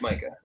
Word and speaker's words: Micah: in the league, and Micah Parsons, however it's pronounced. It's Micah. It's Micah.